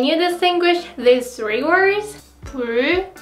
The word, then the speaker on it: 불: 불, 풀, 뿔.